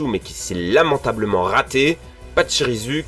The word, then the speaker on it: Pachirisu: qui s'est lamentablement raté, Pachirisu qui se prononce... Pachirisu. Ah, à la japonaise en fait.